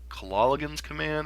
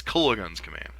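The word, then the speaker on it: Kolaghan's Command: green block X decks he keeps pronouncing it kilala kilala goons command or something and it's just like that pronunciation gets stuck in my head and I'm like it's Cola guns command anyways on to game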